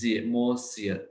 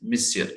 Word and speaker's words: monsieur: दिया ये word, मिसियर, सो इट्स pronunciation is monsieur like this, you have to say bonjour monsieur, ठीक है, so monsieur है इनकी इसकी pronunciation, okay।